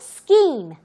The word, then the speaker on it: scheme: And scheme, 운영, 계획 또는 제도인데 보기와는 다르게 발음이 조금 더 특이하죠? scheme. Okay.